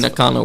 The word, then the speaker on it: Nakano: If we're saying it wrong, You're saying Nakano right.